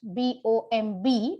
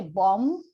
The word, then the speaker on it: bomb: word like bomb blast b-o-m-b we don't say bomb we say bomb okay so one of